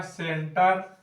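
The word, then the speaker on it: center: उसी तरह हो गया सेंटर, सेंटर में यहाँ सी के बाद ई आया तो सेंटर।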